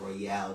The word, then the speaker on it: Royal: It's pronounced Royale, though.